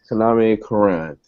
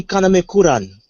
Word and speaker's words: Kaname Kuran: I think it should be pronounced as a in a Japanese accent, as in Tony Kaname Kuran.